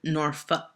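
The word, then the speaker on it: Norfolk: but we pronounced it noru if you say folk we know you're not from here anyways I have an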